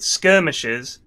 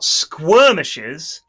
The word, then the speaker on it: skirmish: Effie, that you said skirmishes and not squirmishes, which I've heard multiple Dota commentators use the term squirmish instead of skirmish, not as a joke, but they just say squirmish.